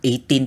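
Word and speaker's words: A'TIN: Kasi, ang tawag ko sa kanyo yung ATIN. Mali ko ba naman, girl? Hindi ko naman alam na 18 pala ang pronunciation nun.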